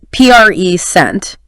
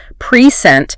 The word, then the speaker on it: present: stress the first part P sent it's a noun right means a gift right but if you stress the second syllable precent it becomes a verb meaning to give something or to show something same word totally different